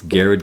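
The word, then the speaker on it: Garrard: reporting on it, and they don't know how to pronounce Garrett. So for all you folks who aren't from Kentucky, it's Garrett County.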